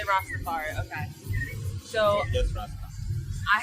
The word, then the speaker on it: Rastafari: Say Rastafari. Rastafari? Say Rastafari.